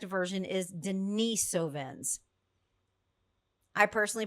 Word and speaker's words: Denisovans: This word Denisovven, how do you pronounce it? You will hear Denise, Dennisovven.